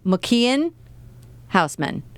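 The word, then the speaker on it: Michiel Huisman: say Michael even it's he says mcken housan cuz he's Dutch so that's why it was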